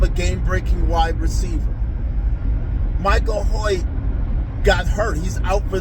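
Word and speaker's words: Hoecht: His name does not look like it's pronounced Hoy, but that's a whole another story. But anyway, um we got Michael Hoy back and it looked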